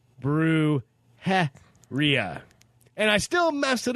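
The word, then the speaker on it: brujería: And oh, yeah, brujeria is pronounced brujeria.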